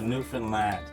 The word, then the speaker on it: Newfoundland: And it's pronounced Newfoundland, not Newfoundland or Newfoundland.